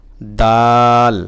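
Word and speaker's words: دال: তারপরে যে হরফ দাল, বাংলা দর মতো, দর সঙ্গে মিল আছে, দাল দাল দাল।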